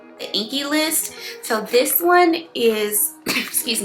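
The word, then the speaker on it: The INKEY List: They're both moisturizers and they're both by the I believe it's pronounced the Inky the Inky List.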